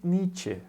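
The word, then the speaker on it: Nietzsche: o século 19 chamado Frederick nith parece que a pessoa tá espirrando mas não é a pronúncia do nome do filósofo alemão o que interessante aqui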